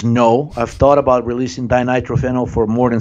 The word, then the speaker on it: dinitrophenol: Dinitrophenol. Dinitrophenol as medicine by John G.